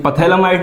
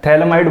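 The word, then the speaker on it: phthalimide: पथैलामाइड नहीं, PH इसका silent होता है, थैलामाइड बोलते हैं, ठीक है।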